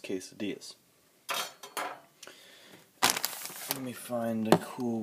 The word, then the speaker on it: quesadillas: as I like to call them they're actually pronounced quesadillas let me find a cool way to set